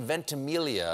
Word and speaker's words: Ventimiglia: Ventimiglia, whatever. And I was 12, and I'm running on, I'm super excited. And it's like, wait, what the? The silent G throws people.